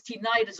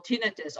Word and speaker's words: tinnitus: about and that is tinnitus or tinnitus oh yeah that infamous buzzing and ringing and hissing in the ears and you know no matter how you pronounce it tinnitus or tinnitus it doesn't matter it is always a